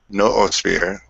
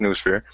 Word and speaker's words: noosphere: new new oath well no sphere or new sphere i prefer new sphere because noodle and it's a funner word but there's people pronounce it the other way but for here it's new sphere and the digital plane